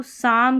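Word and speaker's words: psalm: अब इसको इसको साम करके पढ़ेंगे। यहां पर एक चीज है कि पी तो साइलेंट है ही और यह जो एल है यह भी साइलेंट है। सालम नहीं पढ़ रहे। साम पढ़ रहे हैं इसको।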